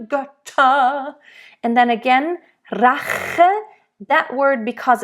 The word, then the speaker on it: Rache: You want to make really sure here to roll the R.